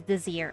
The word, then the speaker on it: Désir: Oh, it's the pronunciation is Désir. Okay, got it.